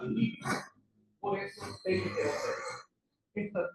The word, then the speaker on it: límite: No termina en ns no tiene que ter acento en español no se fala el limite se fala límite.